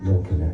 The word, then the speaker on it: Milin: Milin, actually, that's how you say it. I say it three syllables because it fits in the song better.